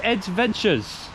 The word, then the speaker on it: Ed Ventures: Yeah, my name is Ed Ventures. What? Nice to meet you guys. How do you say it? You know Adventures, the word? Yeah. And then E instead of A.